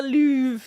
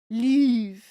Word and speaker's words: Louvre: And we're going to talk about the Louvre today. I don't know how to pronounce it, really. Louvre.